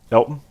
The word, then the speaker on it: Elgton: Are we sure, by the way, Elgton, said it right? Elton? Elton Yeah, just the G is silent.